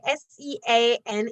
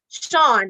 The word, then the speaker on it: Sean: about that Kalisha all right so brick say s e a n is actually per pronounced Sean all right but okay so I thought it was but bricks you say it is actually pronounce Sean all right so thank you for that pronunciation